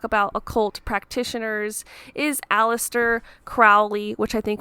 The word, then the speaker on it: Crowley: occult practitioners is Aleister Crowley which I think when you're pronouncing it properly it's Crowley was a part of